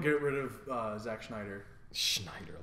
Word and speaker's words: Snyder: Schneider, I guess. How do you say it? Snyder. Yeah, it is Snyder.